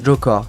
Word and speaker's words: Joker: double sens controversé encé Joker s'écrit comme ça et se prononce jokor cette expression ressemble beaucoup